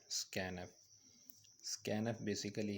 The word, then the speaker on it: scanf: इसको प्रोनाउंस किया जाता है स्कैन एफ, यानी स्कैन लिख के ई के साथ डबल एफ।